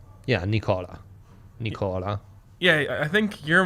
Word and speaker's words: Nikola: ready for that commitment nicola yeah it's it's nicola yeah nicola nicola yeah i think you're more prepared for that i think you should do it make a commitment to do it right yeah a pledge nicola nicola um what were we saying oh right